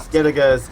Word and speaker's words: Skellige: Skellige's a GE, but it's pronounced Skellige for some reason.